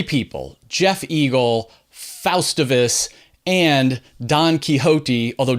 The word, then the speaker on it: Don Quixote: But first, I want to dedicate this show to 3 people: Jeff Eagle, Faustivus, and Don Quixote, although Don Quixote is spelled like Donkey Hoti, which I love.